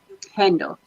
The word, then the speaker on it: Upendo: Is it Upanda or Upanda? Upendo. Upendo.